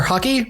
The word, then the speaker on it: Hokey: Rounding out the division is Hellenium from the Spellseekers, along with either Hokey or Hockey rules. I think Hokey. It's Hokey.